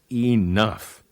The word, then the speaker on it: enough: time one more word enough well I have certainly had enough of words that end in gh and make an F sound phone pH makes the